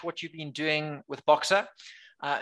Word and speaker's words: Boxa: you solve for your customers sure excellent so boxer is a construction tech company um you can